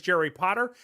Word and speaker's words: Jerry Potter: My name is Jerry Potter. Yes, it rhymes with the boy wizard, host of the Social